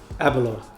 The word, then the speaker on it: Aberlour: How do you pronounce it? Aberlour.